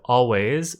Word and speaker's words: always: The end of always is way, a, which is voiced. So the S is a Z.